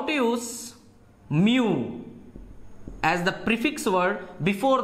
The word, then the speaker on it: mu: alike and we hope to use mu M U is the pronunciation mu example young H for